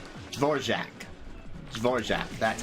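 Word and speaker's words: Dvořák: sure I say his name right uhor jaac zorack that's how you say it yeah I like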